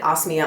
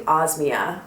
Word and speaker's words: Osmia: o osmia face cream I've been pronouncing it osia all this time it's actually osmia I learned so that